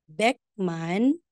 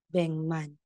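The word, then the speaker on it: 백만: Instead na sasabihin mong beckman sasabihin mo ng bman so Instead na sasabihin mong beckman masasabi mo ng Beng Man so dito rin po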